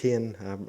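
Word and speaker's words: חן: it's bigger than that chin and i guess would say in the the simplest war hen probably is the better pronunciation a hebrew scholar would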